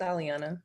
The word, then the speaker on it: Aliana: And I know, Aliana, have I really mutilated your name tremendously, or am I even close to the proper pronunciation? Saying you're right, it's Aliana.